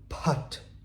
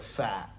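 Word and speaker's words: phaṭ: Now, it's interesting because the put, put, put at the end, right? The pa noise. If you just read it as P-H-A-T, you're probably like fat, right? And you pronounce it wrong and the mantra doesn't actually take effect.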